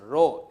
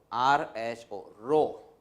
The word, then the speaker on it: rho: This symbol is to be pronounced as rho. It's a Greek letter, okay? And the spelling is RHO, rho.